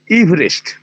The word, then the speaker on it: Everest: আমার নামে EVEREST, এই হচ্ছে আমার নামের বানান, এভারেস্ট। ওরা সবাই এভারেস্ট এভারেস্ট করবে ভারতবর্ষের লোকজন, কিন্তু আমার উচ্চারণটা, নামের উচ্চারণটা হচ্ছে ইভারেস্ট। ওই মাঝখানে ওই ইটার কোনো উচ্চারণ নেই, ইভারেস্ট, এভারেস্ট নয়।